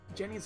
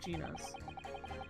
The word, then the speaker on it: Gina: Must be ready to go to whatever lengths I have to convince them of Jenny's innocence. Oh, Gina's. Gina. I've been saying it wrong the whole time.